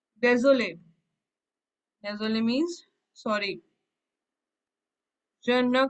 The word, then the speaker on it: désolé: accent, I told you when there is an accent aigu, we have to pronounce that letter. So it is désolé. Last E we will not pronounce, but the second last one, the accent is there, so we'll pronounce.